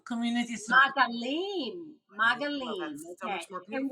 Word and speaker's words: Maagalim: Yes, let's talk with, are we pronouncing it correctly, first of all, Maagalim? So my name is Ayelet. And Ayelet, and the organization name is Maagalim Community Circles. Maagalim.